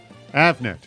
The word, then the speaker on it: Avnet: at Avnet or Avnet actually how do you pronounce it Avnet and Dan declaw CEO of Plex track a